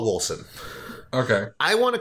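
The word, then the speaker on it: Wolcen: Right now I'm playing, well, most recently Minecraft, then Stardew Valley, and I was playing Volson with you the other day. Yay! Wolson. So, the developers call it Wolson.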